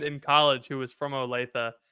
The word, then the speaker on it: Olathe: college who was from Olathe and I mispronounced it I was like oh I have a friend he's from Kansas he's from like a lathy or something and she was like